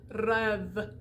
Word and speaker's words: rêve: When you see an E, it's open. You're going to open that up. Open it up like pre and rêve.